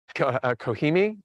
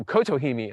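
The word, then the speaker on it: Kotohime: uh Acer palmatum goshiki kohimi or oh kotohimi I should say lost a civil syllable there this one I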